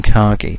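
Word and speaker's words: Kagi: Now, another charting method we're looking at is Kaggi. I think you know how that's pronounced or even ki, but we prefer kaggi.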